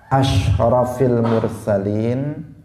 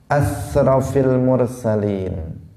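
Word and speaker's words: أشرف المرسلين: Dia ingin memuji Nabi Muhammad dengan mengatakan asyrafil mursalin, pakai shin, asyrafil mursalin. Tiba-tiba dia mengatakan asrafil mursalin. Dia shinnya diganti sin.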